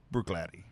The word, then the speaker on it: Bruichladdich: out and buy this it's actually spelled be Rui CH la d di CA try to believe it's just Bruichladdich Bruichladdich very interesting damn you